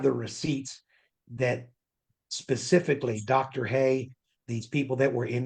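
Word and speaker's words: Heye: Haye, these people that were in the Grand Canyon. Dr. Haye is involved.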